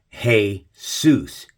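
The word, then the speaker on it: Jesús: worshiping what Jesus Jesus look at how Jesus is spelled and how it's pronounced here in English but how's it pronounced in Spanish it's pronounced Jesus heus is Hell Zeus you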